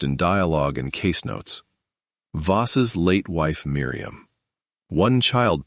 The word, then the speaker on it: Voss: Pronunciations. Nephilim. En FF lim. Custodes silenti. Custodes silenti. Paracus. Paracus. Voss.